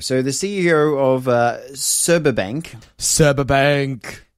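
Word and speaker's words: Sberbank: the CEO of uh serba Bank serba bank yeah pronounced subber Bank sub Bank like sub Bank sub Bank I like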